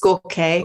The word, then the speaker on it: Jorge: His name is spelled Jorge, but it's pronounced Gorke. Okay. And Gorke Roman, a young guy, incredibly well researched.